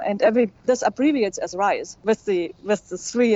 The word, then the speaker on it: R3ISE: an update because um we are now called the rise program the the R3 is still the R3 in there. Just the three is is silent because we um